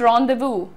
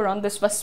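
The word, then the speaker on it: rendezvous: अच्छा, प्रोनाउंसिएशन देखिए, apostrophe, apostrophe नहीं है ये, apostrophe, apostrophe, pronounce रॉन्डेवू, इट इज रॉन्डेवू। बहुत सारे लोग इसको रॉन्डेवस बोलते हैं, लेकिन इट इज रॉन्डेवू।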